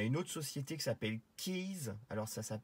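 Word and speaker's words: Kies: Il y a une autre société qui s'appelle Keys. Alors ça s'écrit K-I-E-S.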